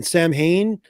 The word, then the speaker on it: Samhain: my name, and then Sam Hain. I made it the phonetically proper way to say it, Samhain, but I spelled it like SAU apostrophe WYYN.